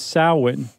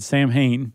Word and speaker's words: Samhain: And in particular, there was Samhain, which forever I've always said Samhain, because that's how it's spelled.